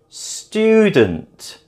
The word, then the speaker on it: student: Japan is also the second syllable, and student is the first syllable.